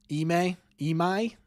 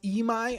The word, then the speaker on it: Imai: Imai? It's pronounced Imai? I've been saying Imai.